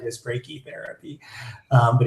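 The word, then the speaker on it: brachytherapy: Usually we happen to say breaky therapy instead of brachi therapy, but I'm sure somewhere they say brachi therapy is right as breaky therapy.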